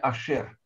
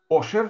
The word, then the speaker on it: Ашер: А имя Ашер, имя мужское Ашер, да, в ашкеназском произношении Ошер, то есть тех, которые, значит, жили на территории России, звали Ошер, а на Украине, соответственно, Ушер.